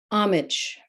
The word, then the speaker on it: homage: Homage. The H in homage is silent.